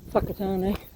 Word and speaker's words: Whakatane: So any words that start with WH is pronounced F. So hence Whakatane.